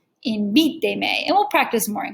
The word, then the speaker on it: invíteme: So if the word was invite, we need it to stay invíteme. So we count back 3 syllables from the end. Uno, dos, tres, invíteme.